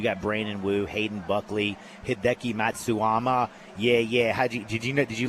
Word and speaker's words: Hideki Matsuyama: You got Brandon Wu, Hayden Buckley, Hideki Matsuyama.